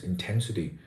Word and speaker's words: intensity: parts of the word but the word intensity is stressed on the second syllable 10 it's intensity so the matter when